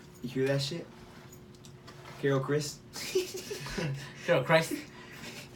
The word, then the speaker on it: Christ: Carol Chris. I find I in your last name. I think it's pronounced Christ, but I feel like for political reasons she says it Chris.